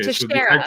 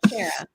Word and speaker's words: Teixeira: And apparently I'm mispronouncing Teixeira. Okay, Teixeira. So the X makes a sh sound. Okay, all right. Teixeira.